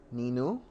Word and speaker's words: నిన్ను: నేను Ninu?